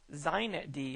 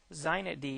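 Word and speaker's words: xinetd: use on linux today zeinet d is that's how they pronounce this with an x x i net d or z knit d is pronounced predominantly used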